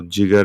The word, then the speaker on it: Jigar: Is it Jigar? yeah, so Jigar is correct.